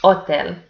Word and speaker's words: hotel: So, for example, we have the word hotel, which has the letter H written in it, but it's not pronounced in Spanish. So in Spanish, we pronounce it hotel.